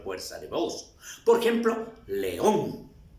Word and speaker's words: león: Por ejemplo, león. León tiene la fuerza de voz en on, pero aquí va con la tilde.